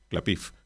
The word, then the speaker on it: Klapisch: del Tiempo del director Cédric Klapisch, o Clapif, como sería una pronunciación más acercada a la denominación original de su nombre, un director que a